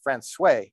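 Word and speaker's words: François: of boot laying our final stop was Francois pronounced Francois by the newfoundlanders a remote fishing out port with a population of 124.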